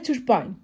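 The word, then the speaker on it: turbine: الاي ن حرف الان والاي في اخر الكلمه بكتبها وما بنطقها تعالوا نقرا بقى ديفينشن يعني تعريفات اكتر للكلمه او ديتيل ديتيلز اكتر عنها تعالوا نشوف اول حاجه تربين التربين ده عباره عن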